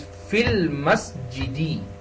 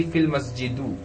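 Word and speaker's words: في المسجدِ: But if we use fi before al masjidu, then we have to pronounce it as fil masjidi. We cannot say fil masjidu.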